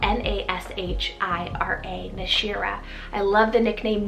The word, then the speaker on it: Nashira: on the girls side i have the name nishira it's called n-a-s-h-i-r-a nashira i love the nickname nash or nashee